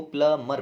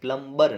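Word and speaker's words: plumber: अगला देखते हैं, प्लम्बर, इसको प्लमर पढ़ते हैं, क्या, प्लमर, प्लम्बर नहीं होता, बी साइलेंट होता है, ठीक है ना, प्लम्बर नहीं बोलते, ठीक है ना, प्लम्बर।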